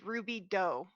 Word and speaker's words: Ruby Doe: and my name is Ruby doe like Jane Doe only better Mike hi I'm Mike